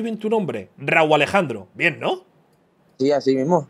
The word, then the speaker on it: Rauw Alejandro: O sea, ¿tú crees que pronuncio bien tu nombre? Raúl Alejandro.